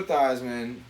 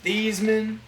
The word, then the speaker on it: Theismann: so nfl mvp joe theismann was convinced to change the pronunciation of his name from thiesman to theisman because it sounds like heisman bro and then he finished